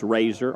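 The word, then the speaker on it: Rasar: field and TJ Razer r a s a r but pronounced Razer r a z o r is way I've got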